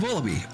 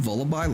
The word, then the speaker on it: Vullaby: I assume Vullaby, like lullaby, but yeah, we've got some under our belt already.